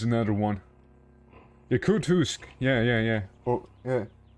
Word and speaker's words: Yakutsk: Yakutsk. Yeah. Oh, yeah. Yakutsk. Yeah, that place. Yeah, that's the one. Just completely butchered the pronunciation first time around, but yeah.